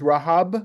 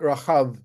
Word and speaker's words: Rahab: Okay, so for the first comment is this is Rahab with a hey and not Rahav with a chet, who is Rahab the prostitute in Joshua.